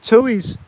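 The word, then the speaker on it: tui: they're sucking nectar right now yeah they're called tues it's spelled t UI guys and they're native birds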